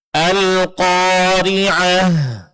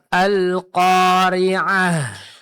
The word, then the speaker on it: القارعة: Nah, jangan lupa berhenti pada huruf ta marbutoh, ganti ta marbutohnya menjadi huruf ha sukun. Nah, huruf ha dari segi sifatnya dia termasuk dalam kategori huruf hamas. Berarti dalam pengucapannya mesti keluar angin atau napas atau suara seperti bisikan.